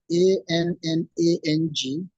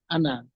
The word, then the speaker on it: Annang: One is spelled A-N-N-A-N-G, still pronounced Annang.